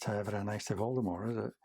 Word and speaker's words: Voldemort: series Voldemort no similarly it's uh pronounced Voldemort because it's French for flight of death and he has a